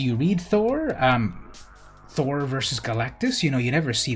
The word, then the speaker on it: Galactus: Now, fun fact, growing up, I always called Galactus, I always mispronounced his name, and I called him Galacticus. I don't know why I put that extra G in there, but that's what I called him for a long time, Galacticus.